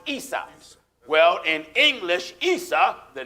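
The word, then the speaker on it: عيسى: Esau in Arabic is pronounced Isa.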